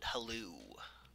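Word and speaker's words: Hlaalu: And as for H-A H-L-A-A-L-U, I pronounce it Halou. Which, again, probably different from yours. I do tend to emphasize the vowels a little bit more.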